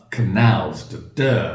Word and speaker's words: canals: Canals. Stress on the second syllable.